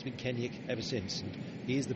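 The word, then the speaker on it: Kenaugh: front some people saying why would you call him kenek when his name is spelled Kenna k e n a u g h um it's the mans phrasing and actually his dad got in touch and said oi it's kenek not Kenna so um that was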